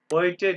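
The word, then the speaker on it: heute: today sir ये और जैसे सर डोइच पढ़ा है इसी तरह इसको पढ़ना है हॉइटे हाँ जी होइट ये ईयू जहाँ पे आएगा मतलब वो आपने जो लीप सुन को जरा गोल कर होए देना हॉइटे होइटे हाँ जी बिल्कुल होइटे ये ईयू की वजह से है ना सर होए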